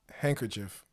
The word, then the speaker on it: handkerchief: Spell handkerchief.